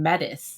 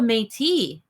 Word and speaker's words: Métis: And they kept saying Metis. Yes. I was like, what's a Metis? I was like, what's a Metis? And then a Metis. It's like, oh, a Métis.